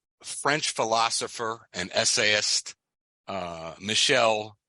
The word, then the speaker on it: Michel: Um, uh, French French philosopher and essaist, uh, Michelle is the way they pronounce it. I would say Muel, but it's Michelle Mi Hel.